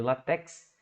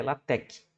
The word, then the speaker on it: LaTeX: tempo da minha vida chamou de látex né conhecido como látex desde que eu me entendo por gente na estatística né mas a pronúncia correta látex né então é um